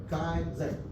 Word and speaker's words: kaizen: Kaizen. Kaizen. Not Kaizen. Kaizen. That's Japanese pronunciation. Kaizen.